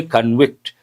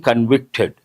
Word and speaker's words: convict: As a verb we say convict. He has been convicted but as a noun convict he is a convict. Pronunciation changes though the spelling is the same.